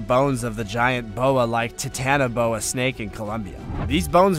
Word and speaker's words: Titanoboa: if you even try pronounce it correctly this time it's titanoboa now whatever hell T tenoboa